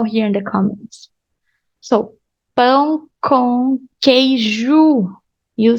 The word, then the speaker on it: pão: Look at the pronunciation, nasal sound. Pão. If you hold your 2 fingers on your nose like this, you're gonna have so much nasal sound.